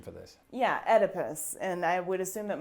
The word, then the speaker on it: Oedipus: Oedipus. But I, as you heard there, pronounce this Oedipus, and you pronounce it. Oedipus.